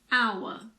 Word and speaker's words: hour: sh like in Chef there are also a few words that start with a silent h for example air honest h hour in American English the